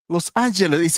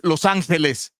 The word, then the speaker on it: Los Angeles: Don't Don't even get me started with uh all the names in California and butchered by the Americans. Los Angeles is Los Angeles. Yeah, it's Los Angeles.